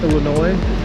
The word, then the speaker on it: Illinois: This is Illinois Avenue, which is of course the name of our state, Illinois. The S is silent.